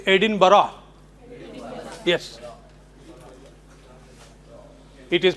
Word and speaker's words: Edinburgh: This is Edinburgh. So unless someone tells you, you wouldn't know. Edinburgh.